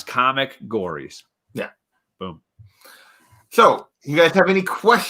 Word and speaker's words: Comicgories: across the bottom but it's spelled exactly like it sounds comic gories yeah boom so you